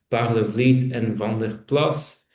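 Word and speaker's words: Parlevliet & Van der Plas: you've probably come across Parlevliet and Van der Plas. Uh that is the Dutch pronunciation.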